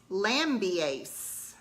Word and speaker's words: Lambiase: Oh, so Laura says that it's Lambiase, according to the audiobook narrator.